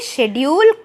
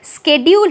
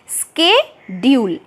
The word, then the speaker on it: schedule: पहले ये जो स्पेलिंग था SCHEDULE, इसे शेड्यूल प्रोनाउंस किया जाता था, लेकिन अभी इसका प्रोनाउंसिएशन चेंज होके स्केड्यूल हो गया है। अभी H का साउंड साइलेंट है, हमें C का साउंड निकालना होता है, स्केड्यूल।